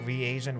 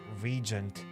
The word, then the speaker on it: reagent: Earth and live streams I always thought that reagent was pronounced Regent and I was so wrong dude you should be